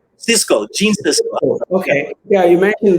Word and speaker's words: Gene Siskel: And you mentioned that Greg Skisko, did I say his name right? Gene Siskel.